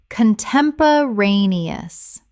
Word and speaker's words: contemporaneous: an-ti-ce-dent antecedent Word 167, contemporaneous. Common mispronunciation, con-tem-po-ra-ne-ous. Correct pronunciation, con-tem-po-ra-ne-ous. Six syllables with the stress on the fourth.